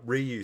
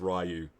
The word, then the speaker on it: Ryu: Um he actually says uh Ken and Ryu. He's the only one to actually pronounce it correctly. Everyone else says Rayu.